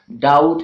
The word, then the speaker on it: doubt: again in the words doubt and death B is silent okay and it is